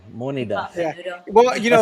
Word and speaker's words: Moneda: phonetically spelled moneda. Yeah. But he says So that's come menudo. What'd you on, that's say? come on, guys. We call monida.